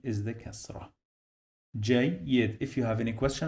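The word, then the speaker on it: جيد: So I say Jayyid. So the first syllable, actually, it is this part. So here it is J, and the second one is Y. So we have now 2 syllables.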